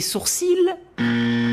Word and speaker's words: sourcils: Tu aimes mes sourcils c'est incorrect. l'Académie française précise bien qu'on ne prononce pas le L comme dans les mots gentil et outils vous ne dites pas gentiL c'est comme dans le